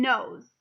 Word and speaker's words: knows: today we're gonna do two words that sound the same but they mean totally different things and it's nose and nose so it's kind of